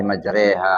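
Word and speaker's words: مجراها: Jadi waduh misalnya bismillahi majroha wa mursaha kan tulisnya bacanya bismillahi majriha wa mursha itu namanya ismam itu dibolehkan di dalam bacaan ya.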